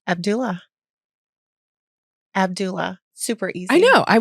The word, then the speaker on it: Abdullah: really yeah how do you how do you pronounce prounce your last name Abdullah Abdullah super easy I know I would have said